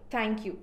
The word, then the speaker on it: thank you: You can hear people saying thank you, but whereas the tongue has to actually come out a little when you say thank you, you have to push your air out a bit and say thank you. That's the correct pronunciation of thank you.